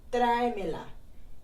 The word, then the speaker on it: tráemela: word, then you have tráemela. And then you would have an accent on the E just to help pronounce it better. If not, it will be tráemela, which is not correct.